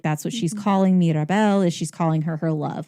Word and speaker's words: Mirabel: It is not Mirabelle, it's Mirabelle.